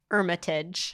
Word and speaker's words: Hermitage: or whatever you said don't pronounce don't pronounce the h that's the thing that throw me off at the end of the day hermitage yeah yeah yeah yeah